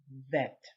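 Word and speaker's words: ב: would be bet then there is the same letter without this little Dot and that one is called vet gimmer okay gimmel represents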